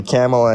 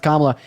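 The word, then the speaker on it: Kamala: have a real job yeah but your lovely camela Harris wants to give us pronounced kamla and also shut up will I thank Autumn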